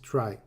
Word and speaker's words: trie: I think we should pronounce it try, not tree.